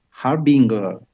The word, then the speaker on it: Harbinger: we have a special guest for you aj harbinger did i pronounce correctly your name yeah thank you for